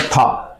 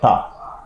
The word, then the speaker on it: Ptah: Okay, this is called ಥಾ, PTAH. ಥಾ. P is silent here.